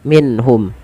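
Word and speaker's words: مِنْهُمْ: sukun bertemu dengan ha cara membacanya itu diperjelas suara nunnya minhum dan tidak boleh pernahan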